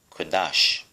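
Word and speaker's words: קדש: It is spelled Q-A-D-A-S-H, Kodash.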